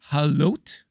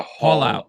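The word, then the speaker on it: Haulout: How do you pronounce it? Halot? Haul Halot? out, like a Haul out. haul out. Oh, haul out.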